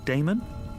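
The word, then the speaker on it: Daemon: e m o n how do you pronounce that Damon if you prefer and this address I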